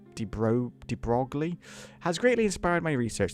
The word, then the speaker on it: de Broglie: The work on the French scientist de Broglie, that's how you pronounce that, de Broglie, has greatly inspired my research.